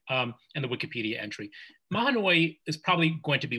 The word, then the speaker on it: Mahanoy: sense that i think mahanoy and i think that's how you pronounce it the way you did it based on the chief justice's pronunciation order argument um and the wikipedia entry mahanoi is probably going to